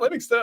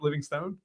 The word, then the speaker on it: Livingston: And that Living Stone I is it Livingston is how you pronounce it, Bruce? Right. Livingston. It's not Living Stone.